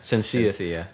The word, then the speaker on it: Shenseea: How you pronounce her name? Shanice? Shenseea. Yeah. Okay, Shenseea. Bet. That's what it looks like.